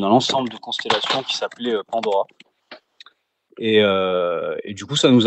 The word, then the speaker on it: Pandhora: C'est un peu la clé qui ouvre les différents mondes de Pandora. On pourra peut-être en parler un peu plus tard. Mais donc ce H au milieu, ce H muet, il nous a servi à plusieurs choses.